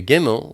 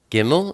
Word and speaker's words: gimmel: we turn to gimmel gimmel is the number three and it's pronounced like a g like get it's a picture of